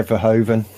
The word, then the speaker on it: Verhoeven: Yeah, Verhoeven.